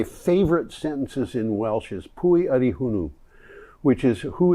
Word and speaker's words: pwy: one of my favorites because of the way it's spelled puie which means who is pwy udie is y d